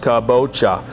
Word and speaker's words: kabocha: we can touch on is the kabocha okay pronounced kabocha this is an asian variety squash okay really